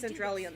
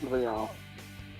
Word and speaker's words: Cendrillon: I think it's supposed to be pronounced Cinderellian though. Nothing too reckless, okay? It's like she said Cendrillon, but I'm fairly certain that's actually supposed to be pronounced Cinderellian. No, it's French. Oh, So okay. it's Cendrillon.